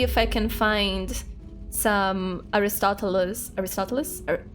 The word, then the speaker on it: Aristotle: I can find some Aristotalus. Aristotalus. How do you guys say his name in English? Aristotalus in Portuguese. I have no idea how you guys say Aristotles. Aristotle. how you guys say in English.